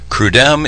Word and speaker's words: CRUDEM: Steve represents an organization called CRUDEM. I believe is how you pronounce it, correct? Correct. Correct. And tell me quickly what you do. CRUDEM is the name of essentially the organization that